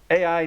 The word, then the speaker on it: Ai: be the resident cuda ai nano yes her uh her name is literally pronounced a.i she's great i love